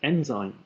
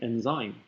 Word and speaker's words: enzyme: This happened with a student of mine who couldn't pronounce the word enzyme and kept saying enzyme. And I thought, stress is so important.